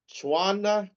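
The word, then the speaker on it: Tswana: if you're Zulu, or if you're Chuana, T S W A N A, Sutu, S O T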